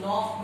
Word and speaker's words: knock: While we were taking our dinner, somebody dash knocked the door. Here K is silent.